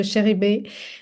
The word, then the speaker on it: Chéribé: So Chéribé, which is really inspired by my great-grandmother name, Chérie, and also the Chébé ingredients, and the chéri, which means in French beloved.